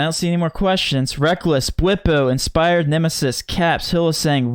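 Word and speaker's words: Rekkles: Dude, besides Reckless, because you keep pronouncing it Reckless, and me and Chris are on the same page, we believe it's Reckles, so you're wrong.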